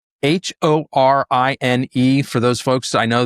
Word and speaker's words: Horine: All right, back to our guest today, the head of reindustrialization of variable, Harne.